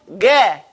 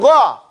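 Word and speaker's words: غ: It doesn't go ga. It goes gha, right? So it's not going to go gay because of the ya there. It still goes gha. That's still its normal pronunciation.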